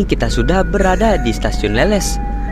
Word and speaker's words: Leles: Nah, kali ini kita sudah berada di stasiun Leles. Namun masih banyak orang yang menyebutkan nama stasiun ini dengan nama Leles. Ya memang bisa dibilang sih, hurufnya sama-sama E, namun pelafalan dan artinya berbeda ya teman-teman.